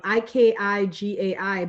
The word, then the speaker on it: Ikigai: pronouncing that wrong, Ikigai, but it's that, that Asian culture of like mindfulness and slowing down and taking rest and appreciating the moment.